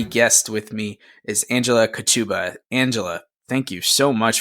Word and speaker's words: Kochuba: my name is Angela ketubah and I do pronounce it like a sneeze Thank You Angela and